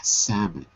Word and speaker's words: salmon: up the stream to spawn s very good pronunciation too samon Sal it's WR it's written s but you say s salmon okay very good now we've got lots of